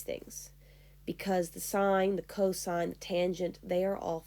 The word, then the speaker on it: cos: this adjacent over hypotenuse its notation is just cos so costs but you say it like Co sine of Theta foreign last